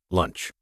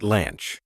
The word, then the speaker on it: lunch: Listen, lunch. The sound is divided by lunch, not lanch.